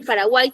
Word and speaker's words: Paraguay: como les decía no cuando yo pronuncio la palabra Paraguay esa eso que yo observo como consonante en realidad está sonando en esa palabra como vocal para Guay está bien no va a pasar lo mismo cuando yo utilice por ejemplo la palabra es como si esto en en sonido estuviese como para Guay Así suena así en la pronunciación pero no va a